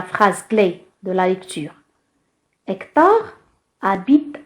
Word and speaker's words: Hector: Hector, Hec, la lettre H, c'est une lettre muette. Il ne se prononce pas.